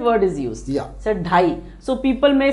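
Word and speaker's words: ढाई: Here we say it as dhai, dhai. So I'll just show you how to write and pronounce dhai this way.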